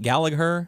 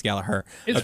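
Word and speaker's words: Gallagher: was a good show how do you say it gager galaher g g I keep want to say gager but it's galaher that's how it's spelled but I think it's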